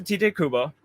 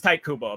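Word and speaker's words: Tite Kubo: this shout out to tj kubo oh right now wait no it's tight kubo apparently i guess i've always thought it was tj apparently it's actually supposed to be like pronounced tight but there's anything this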